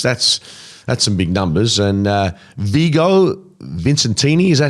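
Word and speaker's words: Vigo Visentini: And Vigo Vincentini, is that how we pronounce his name? You got to put more of a accent. Well, no, I'm actually pronouncing his name correctly. Vigo Vincentini.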